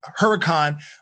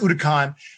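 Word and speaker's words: Huracán: the sto because right now they have the udokan or some people say huracan but it's pronounced udacon but they have an sgo i think i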